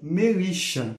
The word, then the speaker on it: Melissa: O nome da Sra. Tweed é dado como Melissa, semelhante ao som de malicioso, e pronunciado de forma muito semelhante com a palavra milícia.